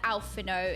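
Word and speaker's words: Alphinaud: is is he as bad as alfo is I didn't pronounce the d is he as bad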